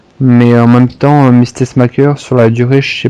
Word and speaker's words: Tessmacher: donc ça se prononce Tessmacher. Tessmacher, oui. Oh merde. Ce sera pour la suite. Tessmacher. Oui, c'est comme le pacemaker, c'est Tessmacher.